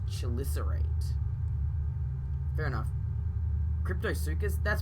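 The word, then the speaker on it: Chelicerate: word you are watching it sounds like she listener rate chill Lissa right she'll listen rate okay so it's pronounced shil is irate fair enough crypto circus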